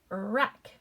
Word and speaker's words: wreck: Silent W, wreck. Wreck. My hair is a wreck.